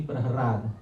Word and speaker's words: Prahlad: The hidden meaning is that in the Sanskrit language there are 2 syllables which are interchangeable. La and Ra. Which two syllables? La, Ra. So sometimes you will see in Srimad Bhagavatam the spelling Prahlad, sometimes you will see Prahrad. Yeah, you will see both spellings in the Srimad Bhagavatam.